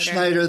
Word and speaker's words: Schneider: Schneider, the German. The German pronunciation, okay.